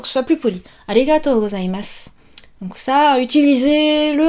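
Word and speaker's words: ありがとう: Et même souvent, il est tronqué en arigato. Alors, vous me connaissez, prononciation très importante. Arigato. Oh, on allonge le O. Arigato. Et pas arigato.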